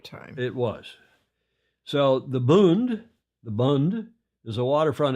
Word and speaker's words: Bund: ever been in and that is called the Bund not the boond like you pronounce it in German the boond you know